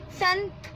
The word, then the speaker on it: Sant: Usually they pronounce saints as Sant.